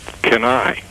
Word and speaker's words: Cannae: The reason I called is I have written a little bit for my Civil War Roundtable about Kenai. And Cannae. Everybody pronounces it differently.